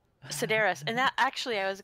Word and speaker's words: Sedaris: not what you said it's not Sudeikis it's a Sedaris Sedaris and that actually I